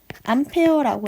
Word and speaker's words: 암페어: 이름 읽을 때는 암페어라고 읽어요. 암페어.